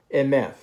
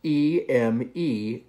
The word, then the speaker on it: Emeth: Emeth. In English, we would spell that E-M-E-T-H. Emeth.